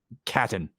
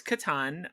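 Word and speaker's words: Catan: i play this game settlers of captain it's katan um is it why is it why is it spelled well that's it's just pronounced differently okay um so first off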